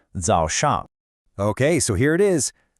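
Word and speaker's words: 早上: the day is called Zho Shang. Okay, so here it is. pronounced. Let's really try to get the tones right on this one. The first syllable has that dipping and rising third tone.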